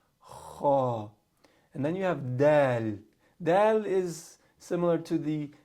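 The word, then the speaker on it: دال: With dal, your tongue is kind of flat.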